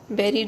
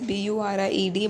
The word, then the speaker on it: buried: Buried is spelled as B-U-R-I-E-D, but it is pronounced as buried and not buried.